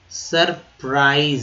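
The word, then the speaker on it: surprise: विस्मय, सरप्राइज, सरप्राइज। आई का उच्चारण जो है आई के रूप में किया गया है, ठीक है।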